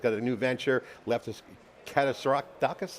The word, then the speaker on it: Katsiadakis: He's done many, many things, and he's got a new venture, Lefteris Katsiadakis, how do you say that? Yeah, Katsiadakis.